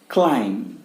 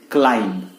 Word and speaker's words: climb: Next है क्लाइम. Let's क्लाइम mount Everest. क्या बोले? क्लाइम, ना कि क्लाइंब. CLIMB, but pronounced as क्लाइम.